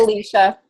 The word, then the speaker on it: Alicia: So you guys, is it Alicia or Alicia? I just want to say it properly because I have 3 different friends. It's Alicia. Alicia.